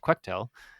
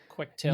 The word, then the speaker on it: Quectel: But because of that, I actually got a evaluation board from Quectel, which I found out is pronounced Quectel and not Quectel, Quectel.